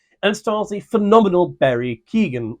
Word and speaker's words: Keoghan: starles the phenomenal Barry Keegan or Ken I think it is Keegan Keegan's the English pronunciation But Ken is I think the Irish something like that the